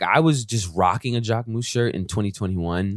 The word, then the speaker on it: Jacquemus: Jacquemus.